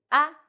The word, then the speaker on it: 啊: 我们一起读 "ah, ah," light and short.